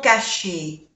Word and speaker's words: cachés: Cachés. La S es de plural y no se pronuncia.